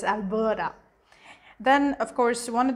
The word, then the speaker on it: Alberta: alberta but it's pronounced alberta so the ta becomes a da so it's alberta then of course one